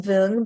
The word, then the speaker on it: Vuong: the very talented Wong Wong Wong yes and Vietnamese it's pronounced vung but Vietnamese is a very tonal language so I totally understand